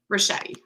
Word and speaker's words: Ricchetti: Ricchetti.